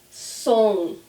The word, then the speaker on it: som: Som. Som. So see, it's the same sound as bom.